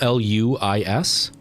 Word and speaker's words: Luis: Louis, but it's spelled Luis, and it's pronounced Luis. It's pronounced like Louise, but instead of the Z sound at the end, it's an S sound.